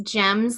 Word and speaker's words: Gems: And for those that are listening, it's Gems, like the stone, GEMS, Yes. So Gems.